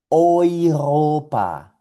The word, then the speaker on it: Europa: Vamos a pronunciar estas palabras juntos. Vamos con la primera. Esto es Europa.